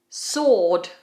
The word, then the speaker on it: sword: Sword.